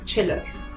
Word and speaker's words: Chhillar: Mama from she her heard she chiller uh ch from chubby and chill you get a chill and hers say so chiller manushi chill uh how